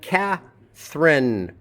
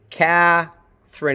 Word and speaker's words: Catherine: And Catherine. Catherine, it's aspirated at the beginning of a syllable. The first syllable is stressed.